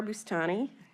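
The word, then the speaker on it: Boustani: names for the record my name is bustani I'm Jennifer Chandler all right um so may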